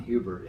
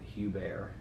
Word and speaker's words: Hubert: mentioned the name leon hubert however being addicted to the english pronunciation of everything as i am the correct name for the man is leon hugh bear and uh so when